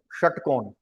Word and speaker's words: षटकोण: बोलेंगे किशोर ठीक है षट्कोण षटकोण यह होगा ऐसे षटकोण प्रोनाउंसिएशन थोड़ा सा टफ है वो स श स बीच में हम वो दोनों के बीच में तो तालव्य श इसलिए बोलते हैं उसको तालु जब